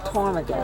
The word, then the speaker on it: ptarmigan: the ptarmigan type. P-T-A-R-M-I-G-A-N. The P is silent, like the P in pneumonia.